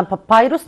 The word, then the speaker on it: papyrus: نو، انا قلت كده ان الانشنت ايجيبشنز يعني القدماء المصريين يوزد بابايروس، قلنا بابايروس نطقها كده، بابايروس يعني ورق البردي، يوزد بابايروس تو رايت.